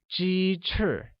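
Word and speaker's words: 鸡翅: chicken wings becomes jeter which chicken or g use the high level tone and wings or true uses a falling tone making it Jeter I want french fries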